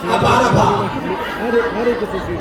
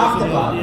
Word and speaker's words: Abbottabad: And she was like, yeah, and it's not pronounced Abbottabad. You're from there? All right, yeah. And I was like, oh, well, how do you say it? She was like, yeah, Abbottabad, right?